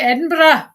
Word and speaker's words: Edinburgh: That's how the Scottish pronounce it. They'll say Edinburgh.